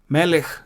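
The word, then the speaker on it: מֶלֶךְ: Melech is the king. In both cases, you have this Shwa under the Chaf, and that is not pronounced. Why? Because it occurs under the last letter.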